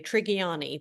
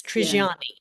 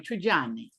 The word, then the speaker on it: Trigiani: I I I did it the southern way. Triani, but it's Triani. Yeah, it's Yeah, like a tree and Johnny. Triani. Triani.